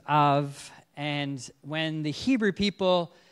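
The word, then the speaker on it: אב: name for father and the letter B is pronounced with a V so it's of and when the Hebrew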